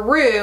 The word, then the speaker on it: Roux: like that, and then I changed it to Roux, R-O-U-X, to give it like a little bit of pizzazz, make it a little fancier.